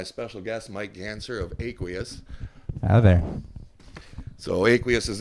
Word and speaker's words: Aqueous: for anybody not familiar with the band it's pronounced aqueous that's right people know so tell me a